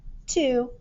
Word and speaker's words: two: okay and number fifteen two jim has two black cats as in the number two ooh we're going to put a heart by this one ooh now let me spell that t-w-o ooh so that sound right these two letters are saying ooh i'm gonna give that